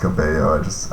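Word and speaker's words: caballos: like after we were together I know it's pronounced cabayos I just up all the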